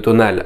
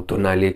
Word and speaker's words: Tonale: Bon, une fois qu'on sait que la gamme est assez restreinte, le tonal arrivera, ou tonale, comme fonction de comment vous souhaitez le prononcer, arrivera bientôt.